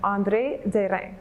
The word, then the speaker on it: André Derain: on an artist named andre de rey that's the french way to pronounce it i get andre durang